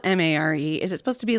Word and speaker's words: Mare: Is mayor, because it's spelled M-A-R-E, is it supposed to be like mayor, but the way they pronounce mayor in that place? No, it's like Mare is her name, Oh.